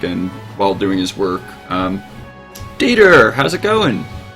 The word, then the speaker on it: Dieter: It's Dieter. Dieter. Oh, I'm sorry. Been pronouncing it wrong this whole time.